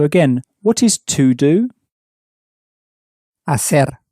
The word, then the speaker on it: hacer: Hacer. Hacer. Spelt H-A-C-E-R. Again, the H at the beginning is silent, as it always is in Spanish.